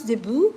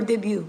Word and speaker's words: debut: in our lifetime okay it's pronounce debut or debut okay it depends those two words are accept acable so again guys thank